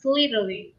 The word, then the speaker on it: Slytherin: Because he wants to become the people like the Salazar Slytherin. Mm-hmm. You know? Yes. Very well pronounced.